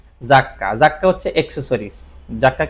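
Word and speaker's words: 雑貨: এরপরে আমরা যেটা দেখতেছি এটা হচ্ছে ফুকুশোকু জাক্কা, এই শব্দটার উচ্চারণ হচ্ছে জাক্কা, এই শব্দটার উচ্চারণ কি জাক্কা হচ্ছে অ্যাকসেসরিজ, জাক্কা কি বিভিন্ন রকমের সামগ্রী, আর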